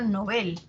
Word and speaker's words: Nobel: su lengua origen ahora es palabra aguda en sueco sea se pronuncia novel y así se recomienda